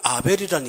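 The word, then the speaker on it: הֶבֶל: 이 아벨이라는 이름은 정확하게 발음하면 허벨입니다.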